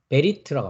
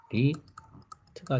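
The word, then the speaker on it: ברית: 그래서 베리트라고 합니다. 그죠? 발음은 베리트가 되겠습니다.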